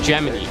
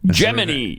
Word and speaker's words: Gemini: You can't pronounce Gemini correctly. Just read the script. Gemini. No, I know no it's Gemini.